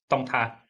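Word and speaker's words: Đồng Tháp: How do you pronounce the name of the province? Wing? Dong Thap.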